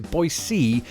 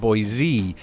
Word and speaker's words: Boise: official website quite simply replaces the voiced alveolar sibilants with a voiceless alveolar sibilants a fancy way of saying that it is Boise and not Boise it bears noting by